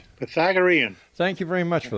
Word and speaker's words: Pythagorean: Pythagorean.